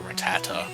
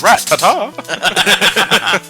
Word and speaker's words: Rattata: radicate I heard people pronounce his name differently throughout the years I hear ratata I hear Rattata Tomy gun that shoots rats it's a rat Tata I want rattoo of AA I now imagine atomicon firing rats I know the Poke rat pronounced it as Rattata yes that's my that's